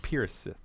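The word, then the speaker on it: Perethesus: Literally, it could be like his name is Steven, and No, I I- spell it P-E-R-E-T-H-E-S-U-S. Okay, It's pronounced Piersith.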